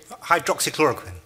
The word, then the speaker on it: hydroxychloroquine: because I could potentially have and I might mispronounce this hydro rocks hydrochloric hydroxychloroquine yes that's the one I'll memorize it if